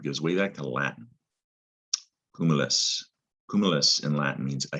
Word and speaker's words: cumulus: big pile or heap but in latin it's comeless and that cu there and the mu does not say q mu all right just give